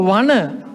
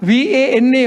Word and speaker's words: Vana: So Vana, V-A-N-A, Vana without, but the pronunciation is the same. The pronunciation is the same. But in Sinhala, we have two n. Pronunciation is the same, but two n's. This n, Vana.